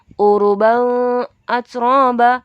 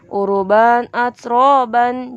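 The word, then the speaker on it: عُرُبًا أَتْرَابًا: Uruban atsroban. Jadi bukan bacanya uruban atsroba, tapi uruban atsroban.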